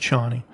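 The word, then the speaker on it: Chani: i don't remember um c-h-a-n-i i'm not sure um i think it's pronounced johnny uh and she basically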